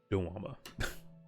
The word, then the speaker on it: Doma: holding the fists of Doma. I guess Dwama, I actually wanted to pronounce it. Dwama.